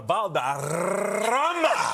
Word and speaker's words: Valderrama: Wilmer Valderrama IT'S IT'S TWO EXTRA R'S.